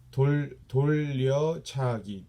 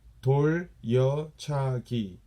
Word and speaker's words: 돌려차기: This I know a lot of you guys have hard time pronunciate. 돌려차기. I'll say it one more time slowly. 돌려차기, meaning it's turning body kick kind of thing.